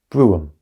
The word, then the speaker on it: brougham: The word should be pronounced brougham.